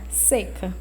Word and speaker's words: seca: aí significa o quê um substantivo pronunciado com a vogal é fechada seca todo mundo sabe o que que aceita né exemplo principalmente a gente que aqui do nordeste exemplo o outro exemplo em baixo por conta de uma umidade elevada a roupa do varal não seca seca do verbo secar pronunciada com a vogal é aberta ó embaixo a vogal